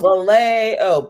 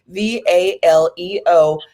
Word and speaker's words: Valeo: Valeo is spelled Valeo, because I hear the A and it's like, oh, Valeo, but no, it's actually Valeo, and that means to be well.